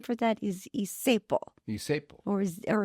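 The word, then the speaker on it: zeppole: for that is isepo, Isepo. or it's spelled like Zeppoli, but it was pronounced isepo.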